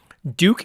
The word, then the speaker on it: douc: just search for it Duke is spelled d-o-u-c all right so if